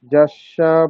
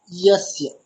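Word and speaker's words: यस्य: শোষণম ভবসিন্ধোশ্চ প্রাপনম সারসম্পদঃ যস্য পাদোকং সম্যক তস্मै শ্রী গুরবে নমঃ। আচ্ছা, ইয়কারের উচ্চারণটা আরো স্পষ্ট করতে হবে, যস্য নয়, বাংলার মতো কি হবে, ইয়াস্য, ইয়াস্য, ইয়াস্য।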